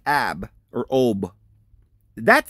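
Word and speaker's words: אוב: In the Hebrew, that's what it says. Go find a woman with an ob. And they spell it O-W-B, ob.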